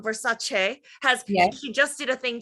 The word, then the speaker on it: Versace: Like if I run around saying Versace, people are going to be like, "I'm sorry, what?"